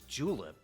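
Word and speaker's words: julep: Today pronounced as julip as in the official drink of the Kentucky Derby.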